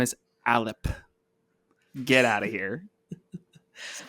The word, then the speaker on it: Allip: We were like calling this like the Leap, the Allip, something like that. Allip, the official pronunciation that's like read by somebody within D&D Beyond is Allip.